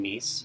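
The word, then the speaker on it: Myss: And he and I had a conversation, and he had mentioned the work of Carolyn Meese.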